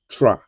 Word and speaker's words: trois: Trois. And I told you the other time that whenever I see o and i together in French, it is mean it is pronounced as wa.